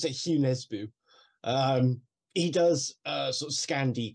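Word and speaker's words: Jo Nesbø: No, I really like Hugh Nesbo. It's spelled Joe Nesbo, but it sounds a bit weird. Joe Nesbo, but I think you pronounce it Hugh Nesbo.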